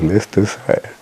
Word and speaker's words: Leicestershire: Just like Leicestershire is spelled as Leicestershire, it's pronounced as Leicestershire.